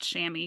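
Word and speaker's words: chamois: so yeah well also if you've ever seen it spelled out you don't think that it's pronounced shammy because it's freaking French I actually know the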